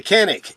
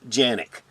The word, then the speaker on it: Canik: the sfx Rival s for this review the Canik sfx rival s yes in Turkey Canik is pronounced Yannick but turkey is pronounced turkey in Turkey as